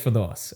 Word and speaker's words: Firdose: real name's Firdose.